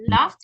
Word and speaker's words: laughed: Con T, laughed and grinned.